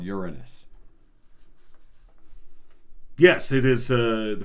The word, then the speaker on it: Uranus: more rings around Uranus I know what you were thinking and you were thinking I was going to pronounce it another way but the planet is called Uranus yes it is uh